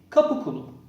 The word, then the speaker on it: Qapu: Originally, Qapu. Qapu means subject or man of the gate, indicating their collective bond with the Sultan. Ottoman classic army was organized of Qapu and provincial system addition to the Ottoman navy.